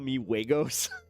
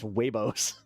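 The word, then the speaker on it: huevos: And then they were just like they laughed at me and they were like you're not saying it right cuz I said chupa meos and it was they're like it's wayos. I'm like what like it means suck my eggs.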